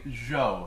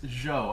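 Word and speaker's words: Zhou: lot of flack for saying Z when I'm pronouncing the name spelled Z hou now if anybody actually knows Chinese you know has experience with mandarin or any of the other Chinese dialects all the research I've done it is Joe and I'm not pronouncing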